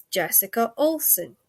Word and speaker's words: Jessica Olson: And now it is my distinct and absolute unbelievable pleasure to introduce to you Jessica Olson. Now, please say I actually pronounced that right, because I sometimes muck up people's names.